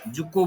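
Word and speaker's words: Dzükou: कौन स्वाधीन जुको भैली जुको डी डी टा साइलेंट रहइबो DZUKOU जुको भैली सिक्किम हिमाचल प्रदेश नागालैंड मणिपुर नागालैंड हिमाचल प्रदेश.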